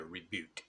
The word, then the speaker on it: rebut: uh stuff okay uh reboot reboot reboot most people call it rebuttals okay but it's a reboot all right now a